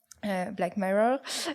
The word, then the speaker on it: Black Mirror: épisode de Black Mirror Black Mirror si on le prononce à l'anglaise qui est une série